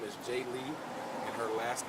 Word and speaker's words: Jailee: you pronounce her first animal first name is j lee and her last name is lassen so again